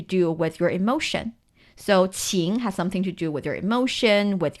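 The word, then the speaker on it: 青: and the right side the right component of the Chinese character ching is pronounced the ching it means green the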